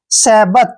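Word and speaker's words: sabbath: टी एच को हमने क्या पढ़ना है थ सेबत क्या पढ़ेंगे इसको सेबत देखिए सेबत सेबत मींस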